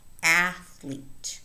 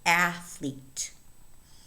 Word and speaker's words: athlete: Pay attention to the stress in this word, athlete. The stress falls on the first syllable. Again, athlete, bathrobe, panther, toothpaste, birthday, something, pathway, toothpick.